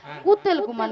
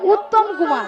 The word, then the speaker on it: উত্তম কুমার: শ্রী শ্রী শ্রী শ্রী শ্রী শ্রী শ্রী হ্যাঁ উতেল কুমার নয় বলো উত্তম কুমার হু উত্তম কুমার হ্যাঁ মিয়া আমি পুত্ন কুমার